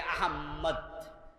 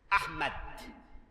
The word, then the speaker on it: আহমদ: এজন্য নাম লেখে আহাম্মদ। আহম্মেদ। অথচ শব্দটার মাঝে কোন তাশদিদ। এই নামে এখানে যদি কেউ থাকেন আর আপনার নামে আপনি এখন ডাবল ম আহাম্মদ এ জাতি উচ্চারণ লিখে থাকেন এটা বিশুদ্ধ করুন নবীজির নাম বিকৃত করার কোন অধিকার উম্মতের নাই বরং উম্মতের দায়িত্ব নবীজির সবকিছু হেফাজত করা আহমদ আহমেদ নয় আহমদ তো আল্লাহ তাআলা নবীজিকে